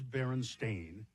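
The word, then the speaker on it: Berenstain: For instance, the Baronstein bears book being spelled and pronounced Stein or not Stain as the publishers claim but but it is Baron Stain as but many people remember it as Stein or Stein.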